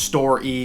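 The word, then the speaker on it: Story: gift shop which was I think it's pronounced store e kind of like Wall-E but it looks like store with that red e at the end um of course it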